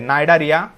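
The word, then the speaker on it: Cnidaria: Those phyla are protozoa, Porifera, सिलेंटरेटा और नाइडारिया, सी silent है, नाइडारिया, प्लैटीहेलमिन्थेस, एस्कीहेलमिन्थेस, Annelida, arthropoda, Mollusca, Echinodermata and Hemichordata.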